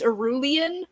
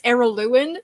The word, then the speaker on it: Araluen: Yeah, Araluen, which literally up until like maybe 3 years ago, I always pronounced it as Arulian, but it's Araluen, and it blew my mind when I realized I was wrong on that.